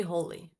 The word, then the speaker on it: Holi: Let me say what I want to have on my bucket list as a festival, and that would be Holi.